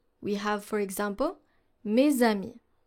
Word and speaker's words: mes amis: For the Z sound, we have, for example, mes amis, mes amis. So you don't pronounce it like an S, but rather like a Z.